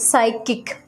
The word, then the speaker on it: psychic: all n silent words next p silent counter student psychic but still we don't we don't pronounce it okay psychic psychology receipt